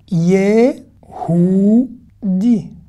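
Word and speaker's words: יהודי: Hu, ye, hu, di. Je ne prononce pas le you de la fin. Ye, hu, di.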